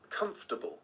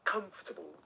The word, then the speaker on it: comfortable: Comfortable. Comfortable. Pretend it's spelled like this. 3 syllables. Comfortable.